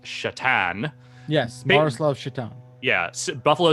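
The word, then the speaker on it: Šatan: Greg says, on a recent episode of the Beastcast, Alex mentioned he owns a Satan, pronounced something like Shatan.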